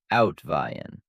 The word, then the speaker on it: Uitwaaien: Uitwaaien, pronounced out-vie-en.